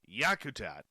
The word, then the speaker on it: Yakutat: golly she says where's my glasses no it's yakutat an Alaskan Airlines jetliner struck down a brown